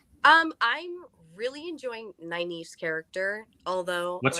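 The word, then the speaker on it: Nynaeve: Um, I'm really enjoying Naive's character. Although, what's her name? Catherine, we talked about how do you pronounce her? Nave.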